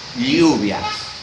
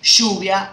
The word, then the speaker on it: lluvia: The appropriate way to say that is lluvia, similar to Spain. But for a long time ago, we started to say lluvia, and that double R, no? It became, it's pronouncing like shoe. Yeah. Like S H in English. Yeah. In English. Okay.